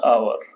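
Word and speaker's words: hour: बाद पाएगा फॉर वन आवर है कर दो से ज्यादा वन में ऐड जो है ना यह मुख्य से यह साइलेंट है एच प्रोनाउंस ने किया जाता है तो आई लव यू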